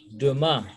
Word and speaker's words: demain: Demain. Demain. I-A-N is R. Remember the nasal vowel I-N, I-M. A-I-N fall under that, so we say demain.